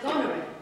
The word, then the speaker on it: Goneril: The point is that Mary's character is pronounced Goneril.